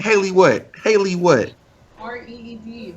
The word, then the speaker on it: Reed: R-E-E-D, Reed. Read, like read paper, baby.